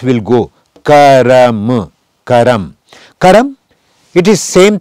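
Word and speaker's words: कर्म: Karma, we pronounce karam, but in songs and in it is broken Hindi, it is not the exact one, but in speaking, somebody says karm and somebody says karam.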